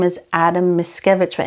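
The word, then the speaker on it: Mickiewicz: his name is Adam miskevich but in Poland it literally sounds like miscavage but he was a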